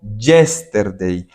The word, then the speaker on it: yesterday: No tiene sentido porque estoy hablando de yesterday, ayer. Pilas con una cosa, muchachos, yo no digo yesterday. La Y en inglés se pronuncia como una I. Entonces usted dice yesterday, como una I normal. Yesterday.